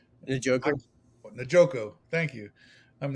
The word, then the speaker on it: Njoku: How do you pronounce his name? Njoku.